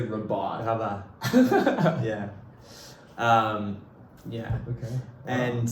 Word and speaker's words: Rabat: is now working at the Israeli embassy in Rabat, which is the capital. Oh, that's how you pronounce it.